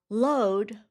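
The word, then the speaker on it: lode: Load, which rhymes with road, is gold or hard rock that is found in bedrock or in a mineral vein.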